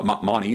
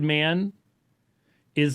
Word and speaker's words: Mani: birth because many uh Mani as I've heard it pronounced more regularly Now by uh Scholars money actually taught that that